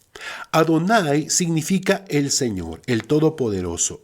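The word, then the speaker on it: יהוה: Por regla general, en todas las escrituras en donde aparecen estas 4 letras, Yod-Ke-Vav-Ke, se pronuncia Adonai. Adonai significa el Señor, el Todopoderoso, el Rey del universo.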